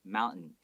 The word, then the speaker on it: mountain: Okay, 我们比较少会说 mountain. 对 Some people might say that, but a lot of people might make that T sound very silent and just go mountain.